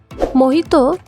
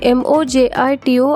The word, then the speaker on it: Mojito: This drink was called Mohito outside Mojito is a Cuban drink Spanish is the official language of Cuba and In Spanish, 'J' is pronounced as 'H' That is why it